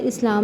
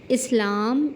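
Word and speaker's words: اسلام: इस्लाम में पहला हर्फ है मकसूर दूसरा है साकिन तीसरा मफतू और चौथा फिर साकिन इस्लाम इसको देखते हुए हम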